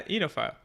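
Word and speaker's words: oenophile: voice enile enile I don't like that yeah enophile that's a a expert yeah huh well apparently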